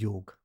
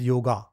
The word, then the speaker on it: योग: are doing that is योग व्ट न्यू जन यूज टू अ term as योगा because of English pronounce it इज वाई ओ जी नॉट ए इट इज योग तो कर्म शु कौशलम